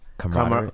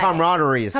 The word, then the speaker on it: camaraderie: Camaraderie. Camaraderie. Camaraderie. I've never been able to say that word. Which one Yes, though? you There's have. two Teach words. me. You Which gotta word? try. Camaraderies.